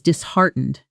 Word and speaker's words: disheartened: Notice the stress, disheartened, and listen to how the T in heart almost disappears into a soft stop when spoken quickly. Disheartened.